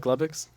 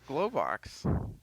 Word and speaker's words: Globox: Josh, did you want to say something about Glubbox? Glowbox.